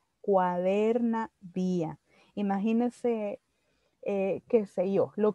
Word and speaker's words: cuaderna vía: Y eso se llama cuadernavía, no cuaderno, sino cuadernavía.